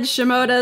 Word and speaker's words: Shimota: name did I say that right you did shimoda is correct excellent I got your first name